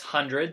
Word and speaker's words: The 100: the hundred season one yes it's pronounced hundred there's there's no one thanks for watching and